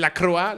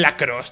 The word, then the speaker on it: lacrosse: Pero en lacrosse, en lacroix... No sé por qué le pronuncio lacroix. En lacrosse, tío.